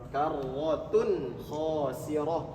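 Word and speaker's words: كَرَّةٌ خَاسِرَةٌ: Kemudian ada tanwin juga, dhammah tain bertemu dengan huruf kha. Tanwin atau nun sukun bertemu dengan huruf kha, idhar. Kalau idhar berarti bacanya jelas. Karwatun khosirah. Karwatun khosirah. Sama ini juga kalau diwakafkan maka jadi ha besar bacanya.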